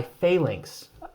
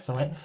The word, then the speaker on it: Phalanx: It's designed by Martin Wallace and published by Phalanx. Or Phalanx. Phalanx? I think it's pronounced Phalanx because it's like the Roman formation.